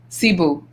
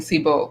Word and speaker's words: Cebu: request is that Getty Radio Show, homemade by Sibo, Cebu. That's how you say it, right? Because I keep saying Sibo. Yeah, Cebu. yeah.